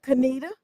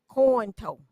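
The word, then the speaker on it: Conetoe: Richard Jonah is the pastor of Canita and it's a Baptist church out of Canita. Cornito coo. And some people call it corn toe because it looks like how it's spelled and they pronounced it how it looked.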